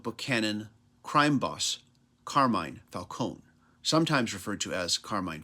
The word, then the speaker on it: Falcone: But others, like the crime lord Carmine Falcone, sometimes pronounced Falcone, and the Penguin, just laugh at him.